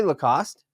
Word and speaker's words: Lacoste: Is that how you say Lacoste? Yes, that's exactly how you say it.